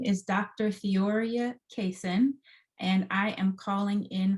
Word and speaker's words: Theoria Cason: from today fantastic so my name is dr theoria cason and i am calling in from savannah georgia